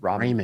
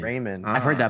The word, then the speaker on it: ramen: I I went on a date once and the uh the girl said Raymond. It's called Ramen. Raymond.